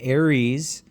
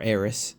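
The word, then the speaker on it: Eris: And Aries, uh a lot of people or Aerys, depending on how you pronounce it, um a lot of people think is actually larger than Pluto.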